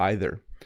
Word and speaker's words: either: So if someone asks me an English question, if I was to say the word either is pronounced two ways, we say either or either.